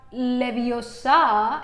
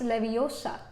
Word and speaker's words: Leviosa: कहती है ना कि it's not Leviosa, it's Leviosa, right?